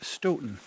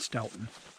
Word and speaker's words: Stoughton: in Portage Wisconsin and it's Stoughton not Stoughton and Gotham not Gotham if you can pronounce